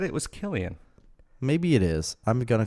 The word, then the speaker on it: Cillian: remember his name yeah somebody pronounced a Killian the other day but it's a see it's not a K its Killian you don't say it's like the Irish red Killians with a k' yeah but somebody said